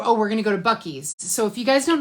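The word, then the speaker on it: Buc-ee's: into YouTube and put the word b-u-c-c-e-e-s that's the name of it they spell it with two C's and two e's it's this gas station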